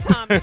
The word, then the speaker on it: Tomi: Like Tommy, like the Power Ranger Tommy, the Green Ranger, White Ranger. Tommy with the I. Yeah, with an I. Yeah. Cole and Tommy. But it's still pronounced Tommy. Yeah, Tommy, like Tommy.